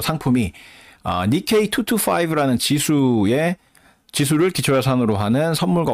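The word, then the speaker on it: 日経: 그거를 니케이 225라고 하는데 일경을 일본어로 읽으면 저게 니케이라고 읽힌대요. 그래서 일경, 니케이.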